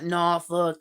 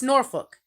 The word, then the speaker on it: Norfolk: I'm gonna say Norfol. It's not Norfuck. It's not no It's Norfolk. Go over to the British, hear how they pronounce that